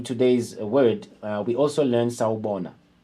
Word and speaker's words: sawubona: So remove R and say sawubona.